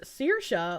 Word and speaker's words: Kirsche: It's pronounced Kirsche, like Kirsche.